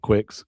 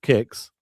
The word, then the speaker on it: Kicks: Don't say it like Danny. I know I messed up. It's it's kicks, not quicks.